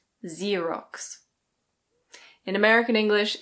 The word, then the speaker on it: Xerox: In British English this is Xerox. Xerox. Yes, the X is just a "z". Xerox.